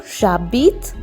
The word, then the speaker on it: j'habite: H is silent, so j'habite, and then again en Inde, nasal sound, en.